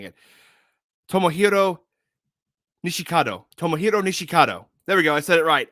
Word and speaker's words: Tomohiro Nishikado: was tomo i'm trying to make sure i pronounce his name right before saying it tomohiro nishikado tomohiro nishikado there we go i said it right i